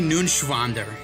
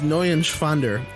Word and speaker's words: Neuenschwander: Anthony Nunschwander. You didn't pronounce it right. Anthony Nunschwander. It's N-E-U-E-N. It's Neuenschwander. Anthony Neuenschwander.